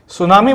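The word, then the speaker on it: tsunami: सुनामी की spelling तो ये हमेशा साइलेंट होता है सुनामी बोलते हैं एक जैपनीज वर्ड है ये इसके बाद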